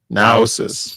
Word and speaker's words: Naosis: I think I pronounced it right. For the comic book, so it's Project Naosis. Naosis.